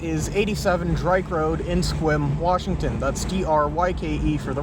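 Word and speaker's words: Sequim: going to be going back over to our Squim location. So the address for that is 87 Drake Road in Squim, Washington.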